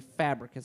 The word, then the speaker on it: Fabricius: You don't say the second I. It's absolutely Fabricus. That's how you say it.